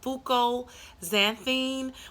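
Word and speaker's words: fucoxanthin: gonna try to pronounce this is Fuko xanthine which is spelt fu cos a in sorry not X X as an x-ray a n if I said s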